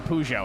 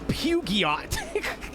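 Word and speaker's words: Peugeot: I've heard some If you're If you don't speak any other language but English and you try to read that like it's pronounced in English, you're not getting pujo out of it. You're getting like like pu pugiot long time.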